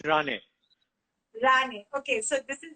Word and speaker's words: Ranney: How do you pronounce your last name? My surname is Rane.